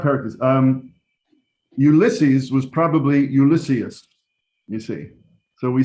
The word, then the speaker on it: Ulysses: um ulysses was probably ulysses you see so we say ulysses it's on the second to last syllable but the name is